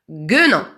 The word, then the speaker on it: guenon: Donc, guenon. Pourquoi j'ai rajouté un U? Parce que le son G se prononce je devant un E.